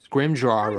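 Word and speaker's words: Scrimgeour: Scrimjar scrimjar scrimjar. I always say scrimjar because that's what they say in scrim books.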